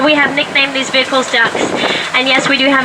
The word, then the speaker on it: DUKW: It really does come from a military governmental acronym, DUKW, duck with a silent wah.